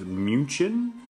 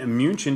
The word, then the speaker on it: München: It goes to the original pronunciation of the word, which is München. And München just simply means the word monk, and it's a city built around a monastery.